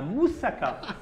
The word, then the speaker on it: moussaka: ça s'appelle la mousaka comment la moussaka je le prononce bien chéri oui comme les Grecs même oh la grisse